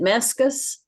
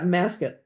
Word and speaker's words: Masket: Is it Meskus? Yeah, Masket, Seth Masket. And it's spelled MES. What? No, it's MASKET.